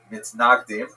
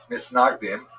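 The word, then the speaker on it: מתנגדים: a uh a series of bands and counterbands between the so-called opponents or in Hebrew Mitsnagdim Ashknazi pronunciation nsnagdim or to our friends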